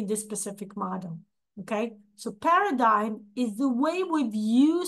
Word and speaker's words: paradigm: I believe in English it's pronounced paradigm, in Russian it's pronounced as paradigm, right? The letter G is pronounced.